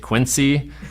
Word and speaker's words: Quincy: in quiny and I had no idea what state quinsey was even in had never even heard of it our first call was in Illinois so we pronounced it Quincy uh Illinois but yeah